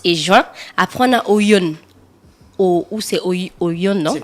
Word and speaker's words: Oyon: Après, on a Oyon. Ou c'est Oyon, non? C'est quoi Oyon. c'est écrit comment? Saison de rémission de pluie. Donc, c'est Non. la saison O-Y-O-N.